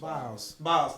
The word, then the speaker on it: Biles: Biles.